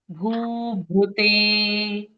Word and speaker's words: भूभृते: तो ये भ्रू जो है, इसको या तो आप भ्रू बोलो या भ्री बोलो, दोनों भी सही उच्चारण है। अगर भ्री बोलें तो कैसा होगा? भूभृते। भूभृते। भू और दूसरा उच्चारण है भूभृते। आप दोनों में से कोई भी उच्चारण कर सकते हो, दोनों उच्चारण करेक्ट है।